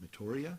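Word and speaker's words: Meteora: pronounce this incorrectly but just think of meteor with an a at the end of metoria maybe but it was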